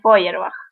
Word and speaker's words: Feuerbach: Feuerbach también es re complicado el cómo se escribe, creo que es Feuerbach, algo así. sí, En realidad es Feuerbach.